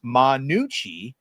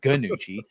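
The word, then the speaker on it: Gnucci: likely classic Punisher villain, Manucci. I'm assuming the G is silent, not Ganucci."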